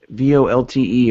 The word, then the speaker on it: VoLTE: couple of places um vo lte or voice over lte uh or volt or volte depending on how you want to pronounce it i always said volte but t-mobile is launching